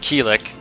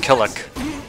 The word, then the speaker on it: Kilik: armor breaks don't happen it's funny they changed the pronunciation of his name many times from as i recall in uh soul calibur 2 is pronounced kilik and now it's pronounced killick even in soul calibur 4 is kilik i believe watch uh some hardcore